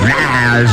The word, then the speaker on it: Niles: Fraser Crane and his brother Niles Crane, which rhymes with Niles and Giles.